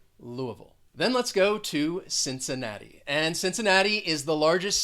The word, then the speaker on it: Cincinnati: there's a lot going on with this word cincinnati cincinnati cincinnati then let's go to detroit it is the